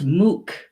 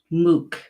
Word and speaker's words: muc: and that is Sal and in Gaelic its MOOC MOOC it spelled mu C pronounced MOOC you know and it fix my camera here